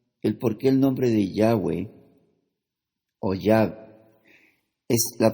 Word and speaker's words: Yahweh: pondré a continuación el porqué el nombre de Yahweh es la pronunciación correcta vamos a hablar sobre la letra